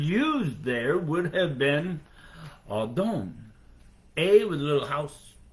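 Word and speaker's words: אָדוֹן: In the Hebrew, the word used there would have been Adon. A with a little house roof over the A, and then D-O with a little roof over the O. W-N, pronounced A-W-D-O-N-E. Adon.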